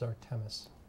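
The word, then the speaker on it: Xartemis: opioid you sold correct it's pronounced zartemus that is correct do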